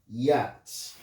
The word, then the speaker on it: yacht: The second one we have yacht. Let's look at the letter A. The letter A in the word yacht is pronounced here as O.